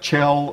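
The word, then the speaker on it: Kjell: que je ll and it's pronounced chelle like cello without the oh so now you will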